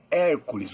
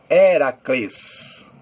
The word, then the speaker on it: Hércules: Hércules Aliás a palavra Hércules o nome Hércules não era assim que era pronunciado na verdade héracles Hércules é seria o